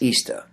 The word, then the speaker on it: Ishtar: Ishtar, which is pronounced Easter, was the resurrection of